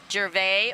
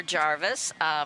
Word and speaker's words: Gervais: John is a 5-time great-grandson of the city's founder, Benjamin Gervais or Jarvis. We have both pronunciations.